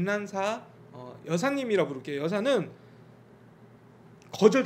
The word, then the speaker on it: 난사: 이화학당 이 합격을 했고 낸 c 한국 발음으로는 난사 라는 이름으로 세례를 받았답니다 그래서